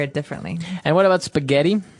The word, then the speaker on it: spaghetti: And what about spaghetti? Spaghetti. Spaghetti. Oh, you pronounce the double T as well.